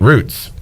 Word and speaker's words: route: football term i mean it's a route just like how do you say you would never say he ran the wrong route but if you're on the road what do you say you say root yeah okay and that